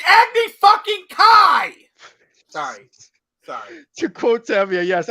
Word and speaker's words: Kai: Agni Key? What the fuck? It's Agni fucking Kai!